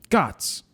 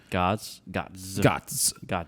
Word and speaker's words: Gotts: My name is pronounced like Got with a Z. Gotts. Gots.